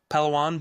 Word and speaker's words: Palawan: How do you pronounce the beach? It was like pan palan. Palawan.